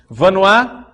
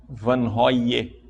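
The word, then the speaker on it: Vanhoye: Vanois, quem não sabe como é que escreve Vanois e quer anotar, né? Vanois se escreve V-A-N-H-O-Y-E. V-A-N-H-O-Y-E. Vanois.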